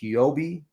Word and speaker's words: Huobi: second exchange, which is, I think it's pronounced Huobi.